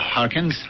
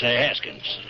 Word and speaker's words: Haskins: Just sit down your plate, Mr. Harkins. It's Haskins.